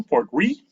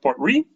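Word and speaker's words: Portree: A Talisker here that you might know, Port Ree. I know it's spelled differently, but it's R-E-E, actually how it's pronounced, Port Ree.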